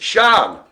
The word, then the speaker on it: Sian: It's Shan. Spelt S-I-A-N or Sian, but it's pronounced Sean.